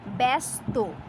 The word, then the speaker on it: ব্যস্ত: শব্দের আদিতে যদি জফলা থাকে, সেই জফলা এ রূপে উচ্চারিত হয়। আপনি এটি উচ্চারণ করুন, কিভাবে উচ্চারিত হবে দেখুন, ব্যস্ত, ব্যস্ত লেখা আছে কিন্তু